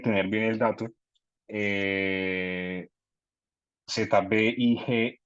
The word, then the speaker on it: Zbigniew: Eh, Zbigniew, Zbigniew, y Brzezinski, Brzezinski.